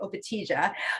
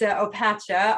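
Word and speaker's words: Opatija: opacha uh i know i was guilty of mispronouncing this one uh the first time i went to croatia i was calling it obatisha but it's not it's opacha although i'm sure um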